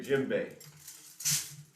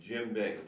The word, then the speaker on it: djembe: this drum is a gym bae it's pronounced like a gymnasium jim bay but it's not spelled